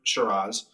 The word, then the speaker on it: Shiraz: far as reds and syrahs shiraz or shiraz surah's in australia by the way that's how they pronounce it um so those are